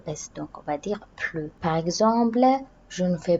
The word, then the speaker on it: plus: sens de plus est négatif on va pas prononcer le laisse donc on va dire plus par exemple je ne fais plus de sport